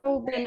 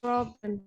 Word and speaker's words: Robin: It's not Robin, it's Robin. Oops. Teacher, Yeah, it's Robin. Robin.